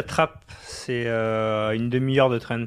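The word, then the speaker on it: Trappes: comment non j'habite à Trapp c'est une demi de train pareil ta trappe ça s'écrit TR 2p 2p ah oui donc traape comme une vraie comme le mot français TR on peut dire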